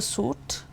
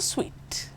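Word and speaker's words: suite: about a hotel room do you call it a suit or a su the right pronunciation is a suweet let's summarize this particular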